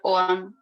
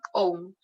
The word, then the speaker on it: Ogham: En realidad la G no se pronuncia, Ogham, Ogham.